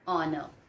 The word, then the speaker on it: honor: Then an honor. You can, one more word I have written here children, an honor. Honor, again H is silent here.